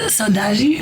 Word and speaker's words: Saudade: Saudade. Wait, pause. Saudade. No, yeah. Okay. Really close. Chega de Saudade.